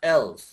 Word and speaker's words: else: আপনারা কিন্তু অনেকে ইলস উচ্চারণ করতেছেন, ইএল এস কিন্তু ইলস না, এলস।